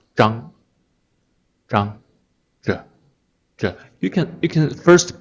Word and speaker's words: Zhang: ZH is a relatively hard one to pronounce because one Chinese surname is Zhang. You can also pronounce that one as Chang, CH. Different pinyin. ZH, Zhang. The mainland China pronounces it as Zhang.